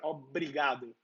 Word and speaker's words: obrigado: So instead of saying obrigado, like you would think of saying, you want to say obrigado with this drier R, obrigado, right?